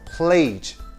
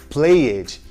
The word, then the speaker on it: played: Geralmente, o erro está em pronunciar a vogal E, resultando na pronúncia played, e isso está totalmente errado. Note que neste caso não se pronuncia a vogal E, fazendo somente o som da letra D, que em alguns verbos tem o som de T. O segredo para não errar aqui é simplesmente não pronunciar esta vogal.